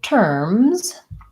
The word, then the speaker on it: terms: terms and sphere so terms is fairly straightforward though I would say the tricky thing here is that when we add a plural to something ending in the mm-hmm voiced mm sound RS needs to be a Z so that's probably challenging